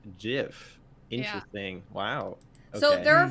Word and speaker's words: GIF: links and Walter said the inventor of the format says it's pronounced jiff interesting Wow so there